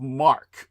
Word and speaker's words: marque: If the nation state issues letters of mark, which is spelled mq ue, most people would mispronounce it. But if a nation were to issue letters of marquee or letters of mark, uh you can legally conduct privacy.